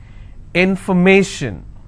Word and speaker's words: information: will stress on stay if i have more number of syllables information first i will break it in for me shin so where do i stress i will stress on may information if i have the